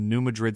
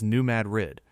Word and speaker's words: New Madrid: In the tiny town of New Madrid, Missouri, pronounced locally as New Madrid, the apocalypse arrived in the middle of the night.